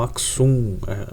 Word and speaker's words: Axum: o reino de Kush, Axum, né? Alguns falam Aksum, né? Enfim, a pronúncia talvez, né, cada um vai ter uma pronúncia diferente, né?